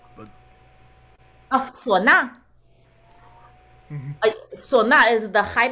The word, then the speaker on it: suona: Do you know of any good resources in English regarding the swana? I know I butchered the pronunciation, but... Oh, sona.